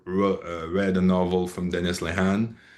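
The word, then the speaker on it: Lehane: anybody that ever read a novel from Dennis Lehan. It's a Leane sure I should pronounce his name properly.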